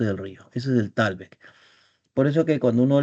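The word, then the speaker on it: thalweg: siempre se dice que la frontera es el talbec del río Putumayo o el talbec del río Tal. Talbec, que se escribe Talweg, Talweg, ¿no?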